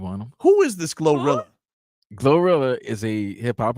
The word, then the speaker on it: GloRilla: Who is this Glorilla?